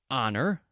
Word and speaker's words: honor: Some words that start with the letter H have a silent H, so you do not pronounce it. There is honestly and our. What else? Herbs, H-E-R-B, in American pronunciation. Honor, H-O-N-O-R. Heir, H-E-I-R. I will make a silly